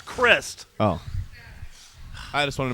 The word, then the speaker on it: Crist: Is it Crist or Christ? It's Crist.